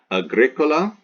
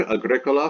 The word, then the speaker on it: agricola: on the anti peanut okay Kido okay Kido Agricola Agricola here we have anti peanut peanut ultima